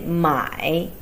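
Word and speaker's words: 买: about buy and sell it's by you say my so it's the third tone when you once sell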